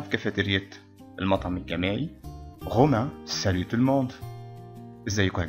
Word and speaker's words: salut: Romain, salut tout le monde. ازيكم يا جماعة. salut, ما نقولش سالو غلط.